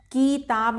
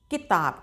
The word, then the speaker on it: किताब: तो जब हम इसको उच्चारण करेंगे तो कैसे बोलेंगे? किताब किताब नहीं बोलेंगे किताब। क्योंकि छोटी इ का उच्चारण कम देर के लिए किया जाता है।